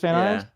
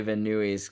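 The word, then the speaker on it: Van Nuys: I always like to is that how you pronounce Van eyes but I like to say venues because like I'm a jerk but yeah van eyes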